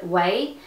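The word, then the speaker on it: OUAI: And then the last like beauty kind of product is this little hair oil from the brand Way. It's spelled O-U-A-I.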